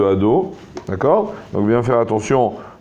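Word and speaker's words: אֲדֹנָי: nom d'Akadosh Baruch Hu, que la première, le Dalet est bien avec un O, et des fois quand on lit vite le nom d'Hachem dans une bracha ou dans autre chose, on peut avaler le O et dire ad au lieu de ado, d'accord?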